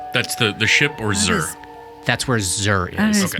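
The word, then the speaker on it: Xer: river close to the Port City of Zur and that's spelled improbably x e r I know the I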